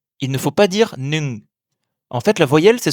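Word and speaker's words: หนึ่ง: Le chiffre 1 se dit nung. C'est certainement le plus difficile à prononcer pour un francophone. Il commence par le son N et finit par le son ng, comme dans les mots ping-pong ou parking.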